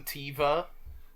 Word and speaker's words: Teva: I know we've always called him Carson Teva, but everyone else seems to be calling him Teva. Well, they're Tiv. Wrong. It's spelled with an I.